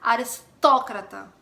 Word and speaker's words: aristócrata: Aristocrata em português, em espanhol, aristócrata. A sílaba tônica é no O, tanto que tem até um acento agudo no O.